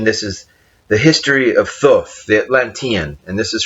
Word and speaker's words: Thoth: I, Thoth. That's spelled T-H. Probably make that out right there. Thoth. Some people say Jehuti, Thoth, T-H-O-T-H, but essentially this is also as